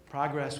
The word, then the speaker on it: progress: Progress was an invention of the 18th century. It was a radical idea. The word was originally pronounced progress, as in progression.